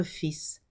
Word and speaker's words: fils: So son is fils. You do hear the S.